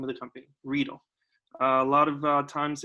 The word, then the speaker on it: Riedel: of times it's mispronounced rydell riedel but it is real and uh just as a friendly reminder it does uh kind of sound like needles or reader like needle so the next time